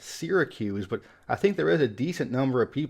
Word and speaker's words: Syracuse: a good majority that people get right it's pronounced Syracuse but I think there is a decent number of people that pronounce it Syracuse one of the oldest cities in the U.S